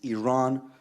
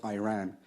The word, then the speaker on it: Iran: the Iranian people but you're pronouncing our country's name wrong our country is named Iran not Iran please once and for